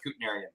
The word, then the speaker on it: Kutnerian: So there I mean there's two accepted pronunciations in the family. One's Kutnerian and one's Kutnerian. I go with Kutnerian.